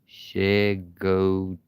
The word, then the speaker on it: Chincoteague: to the island of Chincoteague. Chincoteague. To say it slow. Took me a while to say it right.